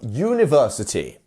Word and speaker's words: university: So we have this U. We almost have a silent, an almost silent J sound. U. University. And our two dots here, which lengthen that U sound.